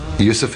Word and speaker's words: Yusuf: He said, can't you use the Arabic pronunciation? I said, yeah, why not? So, Yusuf Islam.